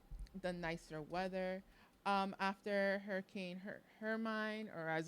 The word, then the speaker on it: Hermine: After Hurricane Hermine, or as like I still pronounce it, Hurricane Hermione.